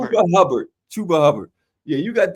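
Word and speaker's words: Chuba Hubbard: Him and Hubba Chubb. Chuba. When you say it wrong, I say it wrong. Chuba Hubbert. Chuba Hubard.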